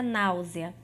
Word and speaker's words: náusea: das proparoxítonas aparentes então por exemplo a palavra náusea a palavra náusea é uma proparoxitona aparente por